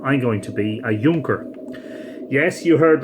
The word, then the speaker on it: Junker: model tonight Matthew I'm going to be a Yonker yes you heard right some of you would say surely you mean Juncker was in fact the German made you Goerke